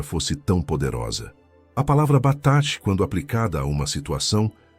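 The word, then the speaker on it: בטח: A palavra em hebraico é batash, que se pronuncia batash, e significa estar seguro, confiante, protegido como em uma fortaleza inexpugnável.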